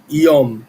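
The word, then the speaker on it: יום: que pu, mas a a letra M final tem que ser pronunciada porque senão é outra coisa. Éom. Quando a a em hebraico, quando a palavra termina com M, a gente fecha a boca, iom.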